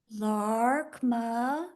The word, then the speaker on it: Laarkmaa: if I need to LMA is how they say it in English it's LMA l a a r k m AA LMA but awesome fantastic and